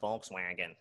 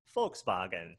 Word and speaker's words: Volkswagen: plant in chattanooga right in german it's not volkswagen it's volkswagen right all right good and